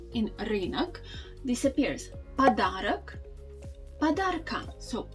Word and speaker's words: подарок: Also, you can see the tendency that the o that's actually at the end of the word in nominative case, we don't really pronounce it like wide o.